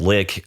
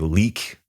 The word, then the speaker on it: Lik: band from Sweden called Lick. L I K. I think they pronounce it like Leak in Sweden.